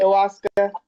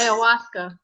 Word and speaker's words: ayahuasca: But it'll tell you all about I don't even know how to pronounce it. Ayahuasca. Yes. Ayahuasca.